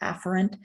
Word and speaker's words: afferent: or AP ferent arterial it's usually it's actually pronounced afferent but that sounds so much like efferent that